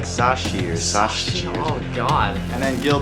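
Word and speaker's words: Savcic: how to pronounce it no Savvy no it's like sashier oh God and then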